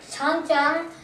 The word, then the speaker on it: Changjiang: The word how you pronounce it is Huanghe, as known as the Yellow River. The Changjiang, also called the Yangtze River.